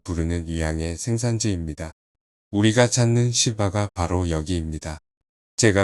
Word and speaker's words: 시바: 되었 예매 남부에 위치한 시바 왕국에 대해 전혀 모르시는 분들을 위해 간단히 설명해 보겠습니다 시바라 발음은 현대 우리가 통증으로 부르는 것이고 원래 발음은 사바 혹은 세바 니다만 그냥 간편하게 시바로 계속 불겠습니다 시바 왕국은 아라비아 반도의